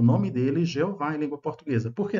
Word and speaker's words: Jeová: E na língua portuguesa nós temos a pronúncia muito legítima, vocalização Jeová, né? Ah, com J.